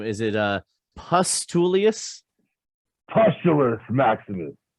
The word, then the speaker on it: Pustulus: Pustulus Maximus. Pustulus. Okay. Now it turns out Pustulus, like pustules and oozing pimples and zits and shit like that.